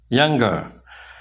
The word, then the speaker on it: younger: Younger. Younger. Jadi double G dibacanya ya. Younger.